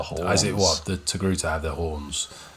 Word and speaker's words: Togruta: I'm going to pronounce this the best I can. She is a species? A togruta.